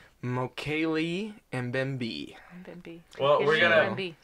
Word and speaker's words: Mokele Mbembe: So today we are talking about the Mokele Mbembe. Yeah. Mbembe. Yay. I've been informed is incorrect. Oh. It's supposedly pronounced Mokele Mbembe.